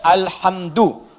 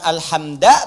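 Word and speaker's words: الحمدُ: al-fatihah di bacaannya al-hamdu bagi kan alhamda pakai sakhkhah atau alhamdi pakai kesra ya Apa bacanya duh al-hamdu jadi kalau dibaca dalam sholat jangan baca menggunakan Fathur Alhamdulillah atau kasra alhamdi tidak baca menggunakan bomma Alhamdulillah Wow bedada unwaha bareng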